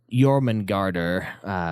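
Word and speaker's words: Jörmungandr: the Midgar Stormare or Yurman garter which is how they pronounce it in norse parently was the middle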